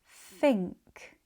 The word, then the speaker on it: think: sink think think sin fin thin sank thank thank sick thick thick thousand thousand thousand Thank you for watching.